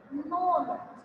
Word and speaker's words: known: K is silent. So it is known. कैसे पढ़ेंगे बेटा? known पढ़ेंगे.